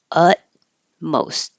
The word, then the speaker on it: utmost: keep your lips back utmost you won't hear either of those t's utmost utmost whisper forget about